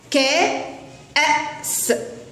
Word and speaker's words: كأس: هذه الكلمة بها حرف الألف ولكنه ليس ممدودا، مع أنه يأتي في وسط الكلمة لكن حرف الألف عليه همزة فينطق بصوته كأس.